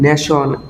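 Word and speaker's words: nation: উদাহরণটিটা সাম আমি যেন নেশন এন এ টি আই ও এন সন নেশন স্টেশন এসটি এ টি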